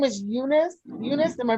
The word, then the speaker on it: Eunice: Eunice, am I pronouncing that right, Ashley?